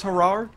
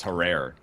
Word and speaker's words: Herrera: and then i'm thinking maybe it's harar i didn't look it up though oh apparently i pronounce it wrong it's not it's herrera but it was correct